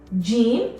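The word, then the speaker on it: ج: put any dots now Gene makes a sound and it's similar to the letter J in English or the sound J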